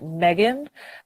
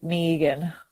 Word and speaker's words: Megan: be pronounced so my so it's in America like the way name is spelt you guys pronounce it Megan but in Australia the way we pronounce it print kind of pronounce it like it has two E's like Meighan so yeah and I